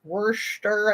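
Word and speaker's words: Worcester: to Canton which um the wer Worster I guess is more how you say it up there in the Boston accent um that one is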